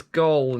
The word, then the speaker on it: gold: any of the other Gold Rangers, which sucks a bit. Interesting how he just says gold, not gold. He doesn't pronounce the D on the end.